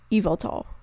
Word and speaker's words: Yveltal: the game Pokemon Y, so you'd think the Y would be pronounced as Y. But on the other hand, the YVEL prefix part seems to be a misspelling of the word evil, which would be like a pun on the word evil, like evil. And the tal probably comes from the Quetzal, which is a kind of bird, which Yveltal resembles. So this would lead me to believe that the correct pronunciation is Yveltal.